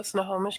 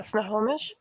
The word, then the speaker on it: Snohomish: um outside so a little bit north so snohomish county which is also partially eastern washington as well what county uh snohomish how do i spell that s-n-o h-o-m-i-s-h i